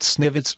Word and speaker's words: SNVT: the type snvt switch svts pronounced sniv are standard Network variable